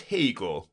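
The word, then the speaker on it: Haigha: happy his name is Hagar he pronounced it to rhyme with mayor I love my love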